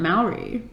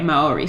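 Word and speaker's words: Māori: about lorde's mini album that she recorded in mallory but before that yeah malory oh yes awesome okay maori so now we could actually say it properly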